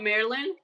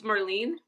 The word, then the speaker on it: Marlene: I saying it wrong it's not Marilyn it's Marlene Marlene who's saying it